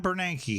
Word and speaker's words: Bernanke: Ben Bernanke, yep.